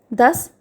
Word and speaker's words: das: So when S comes at the end of a word, so or followed by an umlaut letter or any consonant, then S will be pronounced as S, sir, sir of English.